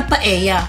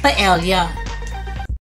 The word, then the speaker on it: paella: Ito ay isa sa pinaka-popular na Spanish rice dishes na may tamang pagbigkas na paella at hindi paella.